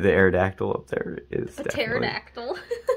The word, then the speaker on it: pterodactyl: Aerodactyl up there is pterodactyl no there's no pee in it it's Aerodactyl there's a silent p invisible oh that's so cool